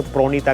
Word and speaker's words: प्रणीता: रसगुल्ला रोसुगुल्ला, अच्छा प्रणीता नाम है तो प्रोनीता करके बोला जाता है।